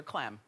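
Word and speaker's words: Clem: involving Hulk Hogan and Heather CLM which rhymes with fem Heather CLM is the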